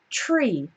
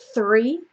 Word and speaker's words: tree: move on to tr when we have TR it often sounds a little bit like CHR it's it sounds like ch ch ch um well it's easier to for me to show you in the word itself so we have this word tree tree okay see how that's different from three three tree three tree you can